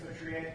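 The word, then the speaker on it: Feutrier: Hi, my name is Vitrier. Last name is spelled F as in Frank, E-U, T as in Tom, R-I-E-R.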